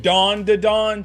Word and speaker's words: Dan Da Dan: If me saying dawn to dawn triggers you so much, go outside, go touch grass.